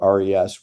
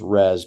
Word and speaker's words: RES: We call it RES. We pronounce it as RES because it basically allows ratepayers to make a reservation and pay a fee